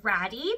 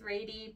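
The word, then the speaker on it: Rady: by the brand R which for the longest time I thought was pronounced ratty because it's spelled r a d y but apparently supposed to be like R like lady anyway if you were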